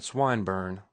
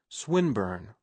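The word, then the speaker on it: Swinburne: swatted meant this man swinburn he began attempting to put his plan into execution and pronouncing the I long who swinburn he repeated with the same mispronunciation the poet swinburn she corrected yes that's the chap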